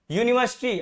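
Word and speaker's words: university: यहाँ पे देखिए, शी इज डैश यूनिवर्सिटी, अभी हमने इसको एग्जाम्पल के तौर पे बताया था। यहाँ प्रोनाउंसिएशन क्या आ रहा है, इसका साउंड कैसा निकल रहा है, कंसोनेंट, इसलिए यहाँ पे क्या हो जाएगा, आ।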